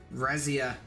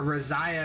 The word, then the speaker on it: Reziah: some fight down bottom rezia a reziah I should say I've been saying his name wrong all along Chad it is not I am rezia it is I am reziah and I've been getting